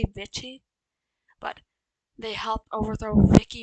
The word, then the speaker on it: Vichy: Vicky? Some people say Vicky. I say Vichy, but they helped overthrow Vichy France, led by the traitor de Gaulle.